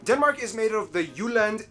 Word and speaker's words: Jylland: Denmark is made of the Jylland, not Jutland, peninsula that connects to Germany in the south, as well as 1,419 islands.